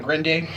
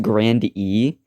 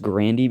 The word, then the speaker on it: Grande: name is actually pronounced grand e but a common misconception is that it's pronounced grande which i can see why i make the mistake too but it's actually pronounced granny because i know family